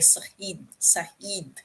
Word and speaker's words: Said: particularly fannin and although he spells his name as s a id as insane he's in arabic his name is saheed they say it like saheed like that so edward side is